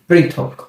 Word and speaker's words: পৃথক: একটি রিকার, তাহলে এর উচ্চারণ হবে কি প রিকার প্রি। এরপর যদি আমরা একটি থ লিখি, এই লিখলাম একটি থ, তাহলে এর উচ্চারণটা কি দাঁড়াবে প রিকার প্রি থ। এরপর যদি আমরা ক লিখি, এই লিখলাম একটি ক, তাহলেই হয়ে গেল কি পৃথক।